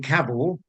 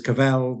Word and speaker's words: Cavell: in norfol it's generally caval because as her father said our surname rhymes with travel not with hell as a pier you can imagine uh but anywhere in Europe she's always caval because in French the